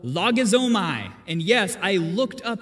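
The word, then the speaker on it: λογίζομαι: In the Greek, it's a term called logizomai. And yes, I looked up the pronunciation as well to make sure I nailed it. So logizomai, it sounds Japanese to me, but anyway, it's Greek.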